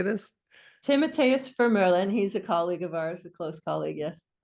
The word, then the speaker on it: Timotheus Vermeulen: His name is Timotheus Vermeulen. Do you have any idea how to say this? Timotheus Vermeulen.